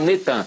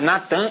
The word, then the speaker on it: Natan: Eles já fizeram sincretismo botaram netan mas é Natan e arro aí a